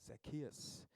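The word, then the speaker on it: Zacchaeus: 제 기억이 맞다면 영어 발음은 제키어스입니다. 삭개오, 제키어스.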